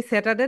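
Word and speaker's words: Saturday: সো সর্বপ্রথম আমরা যেটাকে বলি স্যাটারডে না কি যেন বলি, এটা হবে বলো স্যা, স্যা, স্যা, স্যা, ঠা, ঠা, ঠা, স্যাঠা, স্যাঠার, স্যাটারডে, বলো স্যাটারডে, স্যাটারডে।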